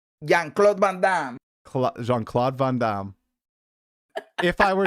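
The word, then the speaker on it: Jean-Claude Van Damme: I have not seen The Fifth Element and I I still don't know who Jean Vancla is. I think that's how you say his name though. JeanClaude Vanam.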